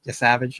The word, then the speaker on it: Yesavage: They have some really intriguing starting pitchers with Kevin Gausman and Trey Yesavage, I think that's how you pronounce his last name. You got it.